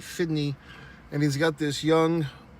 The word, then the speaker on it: FDNY: New York FD y FDNY fitney I've never heard him say it like that but he says that in the movie fitney and he's got this